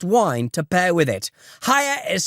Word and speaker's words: Haier: Hire is spelled H-A-I-E-R, and we're offering a discount on their amazing products.